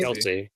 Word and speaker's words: Kelce: Remind me again, I always say his name wrong. Travis Kelce. Kelsey.